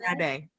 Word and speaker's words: Omisade: today here at the Wolfer to be with Omisade. Am I pronouncing it right? Omisade? Omisade.